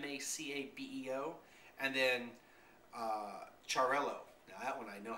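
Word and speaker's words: Xarel·lo: or macabio it's m CAO and then uh charell now that one I know how to pronounce um but it's spelled x a r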